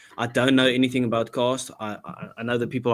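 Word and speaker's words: Castres: Saints versus cast um or castries. I've just heard a pronunciation is cast.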